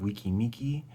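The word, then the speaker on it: Weki Meki: but uh the group wiki miki that is the correct correct pronunciation because there's we and me that is the group members and the fans together represented there well this is a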